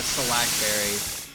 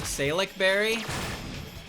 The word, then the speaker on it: Salac: I only remember the lychee berry and the salac berry. Because some people pronounce it salic berry.